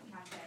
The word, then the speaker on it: Cathay: That's what, how you pronounce that, Cathay.